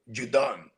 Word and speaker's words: Judon: I like how you pronounced it correctly. Judon Judon.